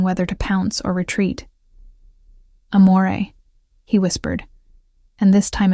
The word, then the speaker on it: amore: Amore, I said softly, demonstrating the proper pronunciation. The R is barely there. It's more of a suggestion than a sound.